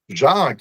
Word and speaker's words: Jacques: Jacques, yeah, that's right. Like Frère Jacques. Yeah, like Frère Jacques. Yeah. You know, a lot of silent letters in my name, but you got it right.